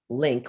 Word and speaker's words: LIINC: term impact of infection with novel coronavirus that's linked with two eyes pronounced link study one of the first covid